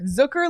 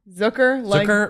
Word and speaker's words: Zucker: which for the record Zucker like Booker Zucker rhymes with Booker yep so that is